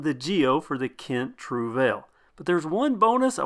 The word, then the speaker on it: Trouvaille: Right away, I asked Kent if the pronunciation was Trouvaille, if that was how it was going to be said, because it might be confusing to most Americans. The response was no, it is to be said Trouvaille.